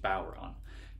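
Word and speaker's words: bodhrán: It's called a bowron. It's spelled B-O-D-H-R-A-N. Which is the Celtic way of spelling it in the Celtic language, Irish, but it's pronounced bowron.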